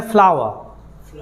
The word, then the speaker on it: flour: देखिए, ये FLOUR, इसका ब्रिटिश जो प्रोनाउंसिएशन है वो है फ्लावर। क्या है? फ्लावर। और मैंने यहाँ पे फूल का भी यहाँ पे लिखा फ्लावर। दोनों का प्रोनाउंसिएशन एक ही है, जाकर आप लोग चेक कर लेना।